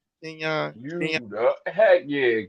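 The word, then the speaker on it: Quinyon Mitchell: But we going Quinion Mitchell. Did I say his name right? Kenyon. Kenyon. You the heck yeah. You said Queen Mitchell.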